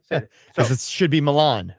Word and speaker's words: Milan: mispronouncing it should be Milan right course it should be Milan but we call it milin uh in our you